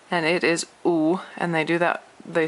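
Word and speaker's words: 五: W-U in Roma Pinyin, and that is a third tone. So U is, so I'll just put a pronunciation here. It's the sound of U in English. So 2 O's together.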